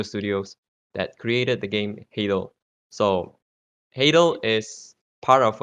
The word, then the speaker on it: Hadal: Before I continue, so is it pronounced as Hadal or Hadal? Hadal, but most people pronounce it Hadal because Malaysians.